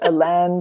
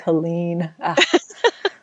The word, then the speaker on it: Hélène: It's Alen, but it's just looks like Helen.